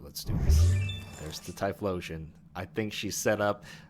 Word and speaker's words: Typhlosion: If I don't get rid of it, the Typhlosion's gonna come out.